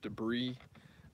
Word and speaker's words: debris: know they don't know that it's supposed to be pronounced debris they think that like